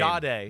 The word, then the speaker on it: Jahdae: Jahdae.